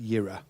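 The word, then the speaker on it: יראה: Sorry, that word is pronounced yira.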